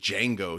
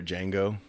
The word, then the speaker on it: Django: had a little scene because J is silent yeah yeah he's the original he was the guy sitting at the table that's a hell of a song if you ever hear a Django it's like the beginning